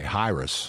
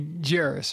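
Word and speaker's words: Jairus: I think they would they would pronounce the J high hrus hrus or something like that but we say jerus or gyus yeah and he's a leader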